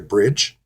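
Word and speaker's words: Brigge: from the isle of wight was actually a bridge that's how you pronounce this b-r-i-g-g-e but here it tells you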